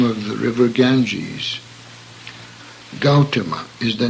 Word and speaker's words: Gautama: name of the jeez Gautama is the name of the butoh please note that owl is a diphthong as in house and should not be pronounced as the English word God he gaya tree is